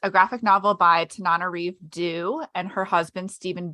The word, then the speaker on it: Tananarive: When I first started like reading her stuff, I wasn't sure how to pronounce her name, and then I looked it up online, and she has a thing on her website, and it's Tananarive.